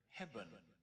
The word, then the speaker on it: hebben: like in the word hebben. But you'll notice that the second E is not quite the same. Hebben. It's pronounced more like a short U.